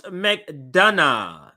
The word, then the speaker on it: McDonough: see this but uh there we go so pronounce mcdana there we go so thank you for the